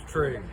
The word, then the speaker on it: Tregre: My last name's Tregre. Trey. Okay. Tregre. Trey. Yeah. I love you, dude. Oh, for sure. Everybody has trouble that's not from the area. It's pronounced many different ways, but mine's the original.